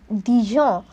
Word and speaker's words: Dijon: is d i j o l which is Dijon and in French we pronounce the separate letters are e g o